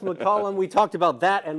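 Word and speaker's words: McCallum: Looks like Macllum, but it's pronounced McCollum.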